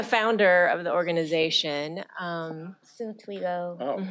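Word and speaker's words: Toigo: And we partner with several groups that work on the pipeline, groups such as Girls Who Invest, Twigo, SEO, and Lachey and Shafat will talk about it a little bit more in the next item.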